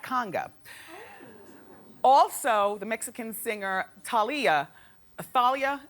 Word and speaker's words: Thalia: called do that Conga also the Mexican singer Talia Thalia how do you say her name Talia it's funny how nobody cares no no no